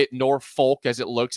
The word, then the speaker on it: Norfolk: what I said that sip is staying in Norfolk last night yes someone says I just appreciate that Jake is pronouncing Norfolk correctly listen I lived in Nebraska